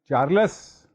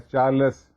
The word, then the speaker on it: Charles: इसी तरह although in Urdu we write it चार्लस, please don't pronounce it एज चार्लस, this is चार्ल्स.